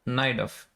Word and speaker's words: Najdorf: think it's worth to play the Najdorf, or how do you pronounce it? Najdorf or Najdorf? Naidov, Occasionally. Naidov, Naidov.